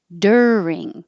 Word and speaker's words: during: t politics politician politician during looks like you are sounds like er er like her during june this one